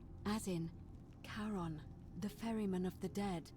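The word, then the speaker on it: Charon: it's just as you described it only your pronunciation is a little off the name you heard wasn't Karen it was c h a r o n as in karon the Fairman of the Dead Oh Kon who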